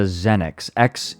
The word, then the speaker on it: Xenyx: Did I say Zed? No, it's a Xenix. It's spelled with an X.